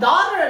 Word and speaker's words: daughter: ちなみにこの daughter の発音ですけど、この真ん中の gh 読まないので声出ないんですね。